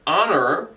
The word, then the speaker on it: honor: with silent letters so with the word honor it starts with the letter h but the first sound you can hear is an i the